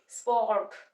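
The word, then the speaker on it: support: आता जाता है वो है सपोर्ट अब यहां पे यहां पे अ स्वर साउंड का यूज हो रहा है और जो स्ट्रेस है स्ट्रेस किस वाले सिलेबल में जा रहा है टू सिलेबल्स है यहां पे स्ट्रेस जो है वो पोट प जा रहा है स को आराम से प्रोनाउंस करना है और पोट प थोड़ा सा हमने स्ट्रेस देना है तो बन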